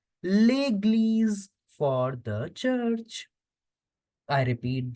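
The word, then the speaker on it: église: and church as leges church will be pronounced as leg because there is accent above the e s is between two w so we have to make the sound of Z legle for the church I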